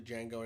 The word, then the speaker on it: Django: in the well DJ where do I get the D from there it's funny because somebody in the movie actually mispronounces it like that at one point they go to Django he's like it's Django and then he meets Django